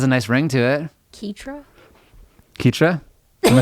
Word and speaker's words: Ketra: But I don't know if they pronounce that Ketra though. Okay. No, excuse me. It's actually Ketra. So Ketra, okay.